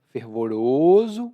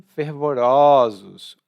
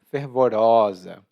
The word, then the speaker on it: fervoroso: E atenção à pronúncia, tá? Quando é o plural ou a forma feminina, não é mais fervoroso, mas sim fervorosos ou fervorosa. O O abre um pouco.